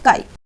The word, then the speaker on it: chi: काई-स्क्वायर test, ठीक है, जो ये CHI लिखा हुआ है इसकी प्रोनाउंसिएशन है काई।